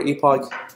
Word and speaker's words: epoch: have sometimes I mean I've seen people pronounce is epic so I'm not sure which version is correct so probably use it whichever you like so for epic or epoch from 1 to T